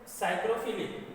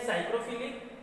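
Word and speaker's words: psychrophilic: तो कौन कौन से बैक्टीरिया है, साइक्रोफिलिक। अब यहाँ जो मैंने पी लिखा है ये साइलेंट है, ठीक है, तो ये है साइक्रोफिलिक और मीजोफिलिक और थर्मोफिलिक।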